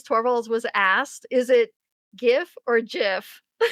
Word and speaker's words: GIF: Oh, GIF. Definitely. Because it's Well, don't say definitely. This is There's no definitely here. What do you mean? Graphics interchange format. It's a hard G.